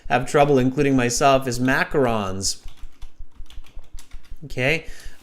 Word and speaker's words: macaron: trouble including myself is macarons okay people say macaroons they're not macaroons they're macarons and they're quite a complex